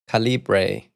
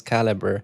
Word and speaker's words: Calibre: She says that caliber is pronounced calibra and I'm like, "No, but I had a call with the guy that created the tool and he says caliber.